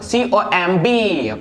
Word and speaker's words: comb: so इसी तरह से और भी एग्जांपल है, for example COMB पढ़ते हैं क्या, comb, not comb नहीं, क्योंकि